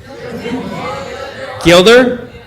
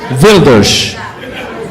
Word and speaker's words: Geert Wilders: Gilder? Wilders.